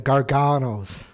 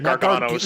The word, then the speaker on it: Gargano: You gotta say it like Wade Barrett, the Garganos. Yeah, the Garganos. Not Gargano, Gargano. Yeah, you go from Midwest to probably the weird way to saying it.